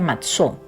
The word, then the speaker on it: matzó: Los panes sin levadura dijimos que se pronuncia matzó, y ponlos sobre esta peña y vierte el caldo, y él lo hizo así.